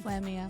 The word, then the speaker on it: Flamia: Flamia. Flamia. Okay, Yeah. so it's as it's spelled.